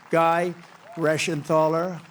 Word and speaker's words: Guy Reschenthaler: Guy Reschenthaler. That's the hardest name in the Senate to pronounce, but I've learned how to pronounce it.